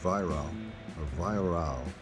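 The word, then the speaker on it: Weihrauch: I was recently told I wasn't pronouncing it correctly, but I did my homework and I believe Viral is the correct pronunciation.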